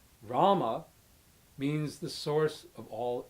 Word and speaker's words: Rama: Rama means the source of all enjoyment, and it's Rama, rhyming with drama.